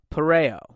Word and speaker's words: pareo: you the different ways to wear a Polynesian pareo. That's how you pronounce it.